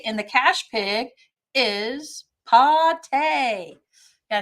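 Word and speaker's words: pâté: So our code word for this week to get an extra ticket in the cash pig is pate.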